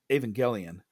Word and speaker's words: Evangelion: It's Evangelion is actually how it's pronounced because the Japanese the romanization system for Japanese is not based on the English language. It's based on Spanish because the Spanish priests